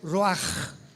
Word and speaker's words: ruach: Apunta la palabra espíritu del hebreo Ruach, con CH se pronuncia Ruach, como con J.